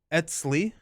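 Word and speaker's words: Eztli: For future reference, I heard it pronounced Etzli and Ichataka. Okay. Ichataka. And Etzli.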